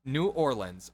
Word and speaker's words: New Orleans: was like okay look it's pronounced New Orleans or as in the as in a type of mineral and lens like the lens of glasses and he was so